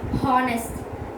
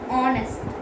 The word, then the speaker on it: honest: Because we don't pronounce H there. H is silent in the word.